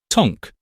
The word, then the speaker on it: Tank: This brings us to the city of Tank, which is pronounced Tonk for the same reason apparently that the English call halfpenny Ha'penny and St.